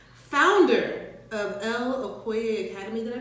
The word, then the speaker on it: Okoye: Founder of Okoye Academy. Did I pronounce that?